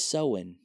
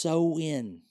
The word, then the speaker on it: Samhain: It's really pronounced sew-in. Sew-in. And I'm even guessing at making sure that's the correct pronunciation. Because I've also heard Scandinavian pronunciation of it as Sylvain.